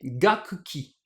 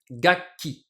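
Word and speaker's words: 楽器: Alors, les lectures sino-japonaises sont gaku plus ki, ce qui devrait nous donner gakuki. Mais ça, gakki, c'est pas évident, c'est pas hyper naturel à prononcer pour les japonais. Du coup, le second kana du premier kanji, ce ku, se transforme en pause, ce qui nous donne gakki, ce mot qu'on a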